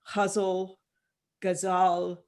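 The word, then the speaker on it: ghazal: one none of us most of us can pronounce it correctly huzzle gazal g-h-a-z-a-l um this is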